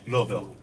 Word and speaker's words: Louisville: He's close. Louisville. Can I try it on you? Yeah. 2.5 syllables. Look, 2.5 syllables. Yeah, so yeah, that sounds right. Louisville. No, Bull. You got bull. Louisville. There you go. Like VUL at the end.